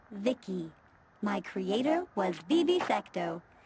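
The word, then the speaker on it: VICI: transistors by the way I'm VI i c i pronounced Vicki my Creator was BB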